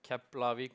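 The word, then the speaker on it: Keflavík: So yeah, we are here uh to go a little bit uh through with you on what we're doing at Kapl airport uh Kaplavik sorry I mispronounced myself uh and want to go a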